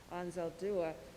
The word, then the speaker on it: Anzaldúa: I want to share a few sage words that Anzaldúa, sorry, I've been mispronouncing her name, Anzaldúa wrote in the preface of This Bridge We Call Home.